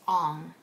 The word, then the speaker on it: Aang: His name is Aang, and he's the Avatar. The reasoning behind why they changed the pronunciation of these names is because they wanted the pronunciation to sound more authentic.